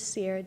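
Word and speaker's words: Ciara: hello could you please state your name and spell it for the record um my name is Sierra c i a r a last name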